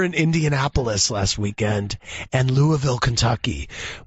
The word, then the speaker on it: Louisville: We were in Indianapolis last weekend and Louisville, Kentucky. No, you don't say it like that. Louisville, you pronounce it like this.